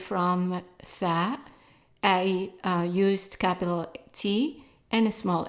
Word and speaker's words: طاء: Ta. It's also like a T, but pronounced in the back of the throat.